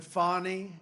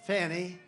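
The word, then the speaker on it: Fani: after another you had fonnie f a n i which is usually pronounced Fanny she added a little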